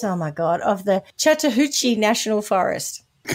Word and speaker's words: Chattahoochee: in the mountains oh my god of the Chattahoochee National Forest would you reckon you've mispronounced it's not easy you know uh no chatter c h a Double T H double o c h e Chattahoochee how else would you say it maybe throw